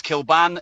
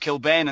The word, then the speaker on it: Kilbane: people to get right my name's kilban and it looks like it's pronounced kilbane and that's the way it's been butchered over in england over the years right that's a legit